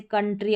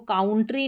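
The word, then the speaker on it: country: यह जो रहता है यह मैक्सिमम बड़ी-बड़ी जो स्पेलिंग्स रहती है उसके बीच में यह इस ओ यू का उच्चारण अ करके होता है। जैसे कंट्री अब इसको काउंट्री नहीं पढ़ेंगे।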